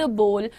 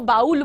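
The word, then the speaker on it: bowl: काफी डाउट रहता है, कोई इसको बाउल बोलता है तो कोई इसको बॉल बोलता है। द प्रोनाउंसिएशन इज बोल, ये बोलना हल्के हल्के, वेल बोल इज the correct pronunciation of this thing, ठीक है।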